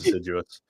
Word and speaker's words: assiduous: And Assiduous came up, but we're idiots, so we said, Assiduous sounds cool. Apparently it's pronounced Assiduous, but so we went with that.